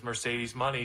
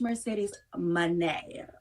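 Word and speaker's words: Mercedes Moné: your CEO that is Mercedes money she is a multiple time world champion she's a future uh she J make sure you say it right it's Mercedes Mane okay Mercedes Mane thank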